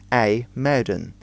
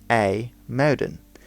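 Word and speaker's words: IJmuiden: front of a motor is the IJ which makes an a a sound in Dutch it doesn't make an edge which often confuses people now another big city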